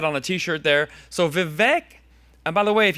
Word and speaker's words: Vivek: He says it's Vivek. It rhymes with cake. So be smarter than all your friends and call him Vivek Ramaswamy.